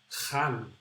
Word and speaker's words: Jan: In Spain, we'll read that like Jan, like my name. We say Jorge because we pronounce the J this way.